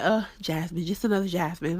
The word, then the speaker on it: Jasmine: to say it correctly it's not jamine without a s it's Jasmine pronunciate your words but